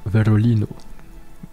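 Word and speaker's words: Βερολίνο: Alvania Avar Havana qui est là Havana Bolivia Bolivia qui la Bolivie Verol Verolino qui est Berlin. Donc le B ça se prononce comme V.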